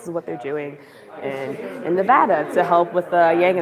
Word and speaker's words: Nevada: It is not Nevada, it's Nevada, okay?